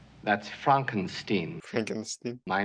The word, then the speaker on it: Frankenstein: the left hand I have one question Dr Frankenstein that's Frankenstein Frankenstein my name it's pronounced Frankenstein but aren't you the grandson of the famous